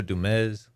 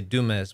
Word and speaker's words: Dumez: the noted desperado pancho dumez a lot of people say dumas but you gotta say it like ricardo montalban with the z yes yeah the noted